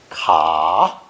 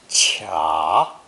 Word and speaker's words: 卡: It's pronounced third tone, ka, or sometimes cha.